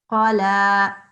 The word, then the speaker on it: قلى: قلى. قلى. Good. So the qaf had just a fath on it. That's a very short sound. No need to elongate that.